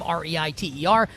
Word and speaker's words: Reiter: Writer spelled like his last name, Reiter.